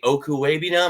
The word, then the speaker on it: Okwuegbunam: Okwuegbunam.